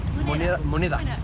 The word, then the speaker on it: Moneda: Moneda, with a D, moneda. We are so bad with pronunciation in Chile.